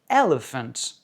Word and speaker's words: elephant: An elephant, accent sur la première.